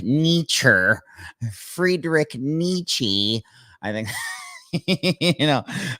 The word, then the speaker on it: Friedrich: yeah like we say like some people like frederick nietzsche friedrich nietzsche i think you know what most people